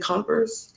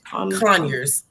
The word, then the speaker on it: Conyers: And then now you're in, how do you say that city? Is it Converse? Conyers.